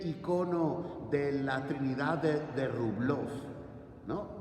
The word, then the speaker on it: Rublev: de la Trinidad de Rublov, ¿no? Rublev, bueno, Rublov, ¿no? En ruso queda más contundente con la O. Se escribe Rublev, pero se pronuncia Rublov.